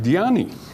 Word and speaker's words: Dhyani: who meditates in sanskrit that same word is pronounced diani and in chinese it's pronounced chana and you